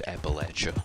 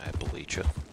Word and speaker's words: Appalachia: You got to pronounce it the way that they pronounce it too. Otherwise you get yelled at. It's Appalachia, not Appalachia.